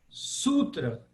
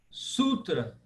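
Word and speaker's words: Sūtra: Agora, Sutra. Sutra. Ela é duplamente pesada. Ela é pesada porque o U é longo e ela é pesada porque ela é seguida de duas consoantes.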